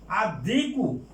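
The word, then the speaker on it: الديك: আর দিকু এই যে দালটা হরফে শামসিয়া, হুরফে শামসিয়া, এই জন্য লামের উচ্চারণ হবে না।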